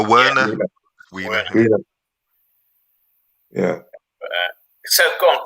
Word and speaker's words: Werner: Wiener, he's a Wiener. Did I say Wiener? Yeah, you did. How do you pronounce it? That's his name. That's his name, Wiener. No, Werner.